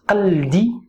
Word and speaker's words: قلد: If you're talking to a woman, it's قلدي. قلدي. I know it's a little bit harder, this verb, when it comes to pronunciation. It's consonants without vowels, and it has the qa.